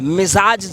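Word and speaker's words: मिज़ाज: हाँ, मिजाज जेड लगाइए, जे नहीं जेड।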